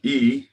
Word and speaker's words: Yi: else for a healing result right um ye e is how it's pronounced e is your focused mind intent and